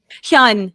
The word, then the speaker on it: Hyun: And the nurse, please pronounce her name for me. I do not want to mess it up. Hyun, yes.